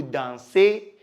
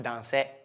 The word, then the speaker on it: dansez: Vous is vous dansez, not danser. No, it is a. So vous dansez.